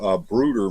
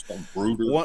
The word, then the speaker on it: Bruder: You need some policemen to go with him, and so the Brooder makes these wonderful action figures of policemen.